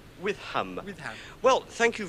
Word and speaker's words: Witham: name is Witham withm yes how do you spell that withm um w h i t h a m with ham with ham well thank you very much for